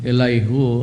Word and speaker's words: Elihu: Hibiben Matiao, it's pronounced if by Ben Matit Yao, the first ambassador to the Philippines, Rabbi Elijah Azaria, the Rabbi Elihu Azaria, that's how it's pronounced.